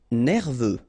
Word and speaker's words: nerveux: misérable nécessaire final nécessaire nerveux final x not pronounced nouveau remember combination of